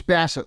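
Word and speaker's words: Bassitt: right or is it Bassett? How did It's Bassett, like the Hound.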